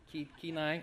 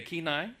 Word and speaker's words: Kenai: Kenai? Okay, Kenai, right?